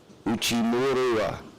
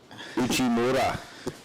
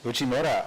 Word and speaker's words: Uchimura: And in the green, Yoshiaki Uchimura. I butchered that. Uchimura. Uchimura, all the way from Japan. We were discussing earlier how